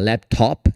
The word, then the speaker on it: laptop: Mas para você que quer ir um pouquinho além, é assim que se diz, tá? Laptop. Você abre a boca.